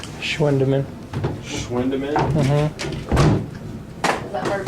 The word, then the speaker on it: Schwendiman: Schwendeman. Schwendeman? Mm-hmm. Is that hard for you to watch? That's spelled SCHWENDIMAN.